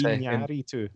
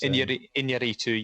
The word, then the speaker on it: Iñárritu: Inaritu, I think, isn't that? Yeah, Yes, Iñárritu. That's how you say it. It's Iñárritu, yes. So because of the squiggly, it's a nya.